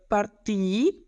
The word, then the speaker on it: partii: In the passato remoto we have partii, which is spelled like P-A-R-T-E-E.